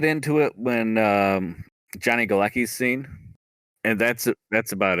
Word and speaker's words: Galecki: they do get into it when um Johnny galecki's scene and that's that's about it yeah so